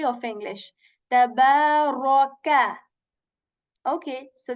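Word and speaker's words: تبارك: Tabaraka. Okay, so this first letter is light here, ba is light here, ra is heavy here, and kaf letter is light letter. Okay, so we say tabaraka, raka, tabarakalladhi.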